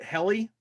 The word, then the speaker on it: Heli: Is it Heli? Heli? Oh, heli is the right way to say helicopter. Think helicopter, you never will forget.